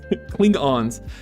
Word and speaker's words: Klingon: Clingons. Did I Did I say that wrong? Cling on. Cling on. Cling on. Right. That's how you say it, I think.